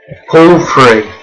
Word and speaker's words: Porphyry: Is he poor or free? Could be both. Let's see how his name's actually pronounced. Porphyry. Got it in one go.